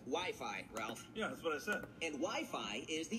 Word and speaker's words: Wi-Fi: blood-pressure machine kids love those things listen wifey well it's either wiffleball an arranged marriage it's actually pronounced Wi-Fi Ralph and Wi-Fi is the internet which is